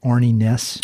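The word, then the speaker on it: Arne Næss: And I noticed on the dedication, you dedicated it to, I want to make sure I'm pronouncing this right, Arnie Næss.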